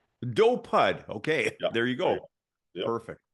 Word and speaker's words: Dopud: it's do yeah okay so how do you pronounce it uh dopud dopud okay there you go perfect Matt dopud awesome